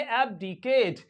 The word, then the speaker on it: abdicate: एबडीकेट एबडीकेट एबडीकेट एबडीकेट ये जो लास्ट वाला जो फाइनल ई है लास्ट वाला ई है ये क्या है साइलेंट है तो इसको क्या पढ़ेंगे इसे पेंगे एबडीकेट एबडीकेट और इसका मीनिंग